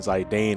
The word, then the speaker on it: Zidane: of Final Fantasy 9 how did you guys pronounce his name because when I originally started playing it I always called him Zidane and zagging started in high school and in college I heard people saying zai Dane or something like that